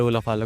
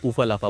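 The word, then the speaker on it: ulafala: Miss pronounce किया और उन्होंने यहाँ पर उलाफाला को उफालाफा बोला और इसी के साथ उन्होंने कहा कि उन्हें इसकी ज़रूरत नहीं है और उन्हें सिर्फ गोल्ड से मतलब है।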